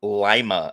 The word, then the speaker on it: Lima: time in Lima okay first off it's it's pronounced Lima in Ohio fine f and yes I've been